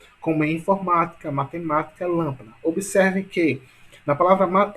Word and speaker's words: matemática: Matemática, a mesma coisa. Perceba que a sílaba tônica é ma, sendo que a última sílaba é K, a penúltima é ti, né, e a antepenúltima é ma. Então, se a sílaba tônica de matemática é antepenúltima, então ela é uma palavra proparoxítona.